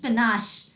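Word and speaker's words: panache: What is the correct pronunciation? It इज पनाश.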